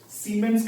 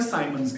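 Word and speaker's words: siemens: So per ohm और capital S, जिसको अपन pronounce करते हैं as सीमेंस कह लो या साइमंस कह लो, ठीक है.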